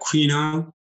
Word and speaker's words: quinoa: This, the quinoa. Okay, I always struggle to pronounce this one.